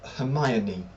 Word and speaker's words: Hermione: En anglais, c'est Hermione.